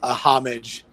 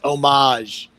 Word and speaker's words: homage: be like it's pronounced homage yeah then the h is silent i don't know you